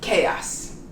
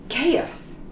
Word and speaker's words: chaos: word i bet chaos it's close to a word in spanish but it's pronounced chaos chaos not hard at all